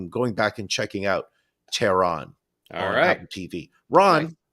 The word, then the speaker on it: Tehran: I don't want to be just your average ignorant American and saying Tehran, because it's not Tehran. It's not Tehran. It's Tehran.